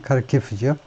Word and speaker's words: Kharkiv: 우리는 뭐 히르카우 이렇게 하는데 우크라이나 발음으로는 그렇게 되겠지만 근데 영국식 발음은 미국식 발음으로는 이제 영어 발음은 카르키프죠.